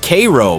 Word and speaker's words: Cairo: But if you think those sound bad, let me introduce you to Cairo, Illinois, pronounced Cairo by locals who are increasingly rare.